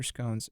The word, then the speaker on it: scones: And I also learned that you can pronounce them as scones as well. So scones or scones, it works.